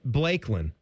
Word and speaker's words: Blaykklyn: I have a friend that named her kid Blakelyn. Blakelyn. Yeah. It is spelled BLAYKKLYN.